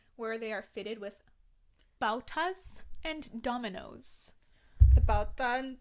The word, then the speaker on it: bauta: they are fitted with bautas and dominoes. The bauta and domino. And I had to Google that shit. Yes, I think I also Googled it. A bauta? I don't know how to say it.